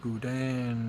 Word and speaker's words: boudin: Boudin is the pronunciation.